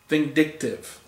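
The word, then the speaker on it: Vyndktvx: called Lord Vindictive, but he spelled his name really really strangely and you just don't know how to um you know pronounce it until I went on to uh a website and I said this is how it's pronounced and it's vindictive. That's who I would be.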